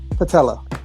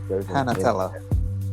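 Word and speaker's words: panatela: Panatella. What? Patella. Panatella. There's an N. I negated the N. The NA is silent in the middle.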